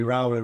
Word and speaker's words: Rowley: make any you can call me rowy Roy whatever you perfect off C we're having a discussion whether it's rowy rowy and um yeah we got there at the end theyve had to literally pronounce it differently on my scream here say